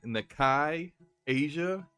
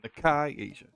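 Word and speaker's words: Nikkei Asia: Shinobi on Twitter and Nakai Asia. I think I said that correctly. Actually, I'm fairly certain I said that correctly, so I looked up the pronunciation. Nakai Asia.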